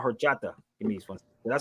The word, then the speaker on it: horchata: It's called horchata.